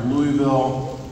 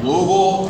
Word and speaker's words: Louisville: 1st we opened our Louisville it's not time I said it wrong we opened our loville There You Go Distribution Center and